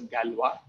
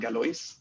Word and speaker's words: Galois: called ibari i mean this last name is pronounced as galwa i mean not galois uh but as you